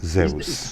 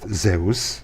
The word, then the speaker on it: Zeus: it is pronounced Zeus. Zeus was the guy that had wings on his feet. Whatever. So it's That was- it's pronounced Zeus.